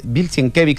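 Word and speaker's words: Sienkiewicz: esta est leyenda que se se formó alrededor, porque justamente eso eh lo consiguen a Bilsen Kevix, eh Bilan Kevix se pronuncia el es un dibujante Ramis, si tenés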